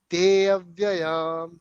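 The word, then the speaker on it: तेऽव्ययम्: yeah, but do not pronounce te and avyayam separately. That's what the idea is. Hmm. So it should be te avyayam.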